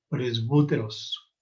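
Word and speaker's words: πρεσβύτερος: la U francesa, bueno, ustedes ponen sus labios como si fueran a decir U, pero en lugar de eso pronuncian I. O sea que esto sonaría más o menos así: presbíteros, presbúteros, así más o menos sonaría, y significa anciano, no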